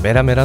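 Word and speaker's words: メラメラ: 열매는 자연계 열매 로 일본어 발음은 메라메라 놈이 메라메라 는 말 그대로 이글이글 활 활의 뜻을 가지고 있으며 영어권에서 도 똑같이 발음한다 현재까지의 원피스에서 유일하게 2명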